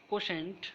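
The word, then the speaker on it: Quotient: কোশেন্ট শব্দটার উচ্চারণ হবে কোশেন্ট।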